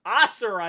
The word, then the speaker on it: Asura: Asura is how you pronounce his name.